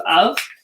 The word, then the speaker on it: of: So, and let's see, of is also an exception to the rule because it sounds like it should be spelled O-V.